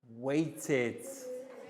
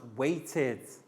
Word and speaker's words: waited: bank one waited waited so that final sound waited what do we think is it id t or d waited yes we put it into this column here because the final sound is like i d so once again bang